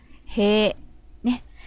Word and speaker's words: 塀: はい。Next word is 塀Hey, but okay, pronunciation is use the long vowel because we type hey. So for e and I is in the low, we pronounce long vowel as e hey. So sounds more like hey.